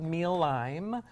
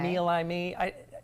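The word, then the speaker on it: Mealime: So the first one, I believe it's called Meal Lime or Meal Lime. It's mealtime without the T in the middle. So it's the only difficult thing is how to pronounce it. Okay. We'll go with Meal Lime.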